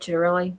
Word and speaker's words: Ciattarelli: But I do have a question because our the Republican candidate in New Jersey, Jack Ciattarelli, is that how you say it, Ciattarelli?